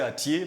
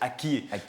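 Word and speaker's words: Akyé: Avant, on disait Atié, mais on dit la bonne expression ou la bonne prononciation, c'est Akié, qui s'écrit donc A-K-Y-E à la fin.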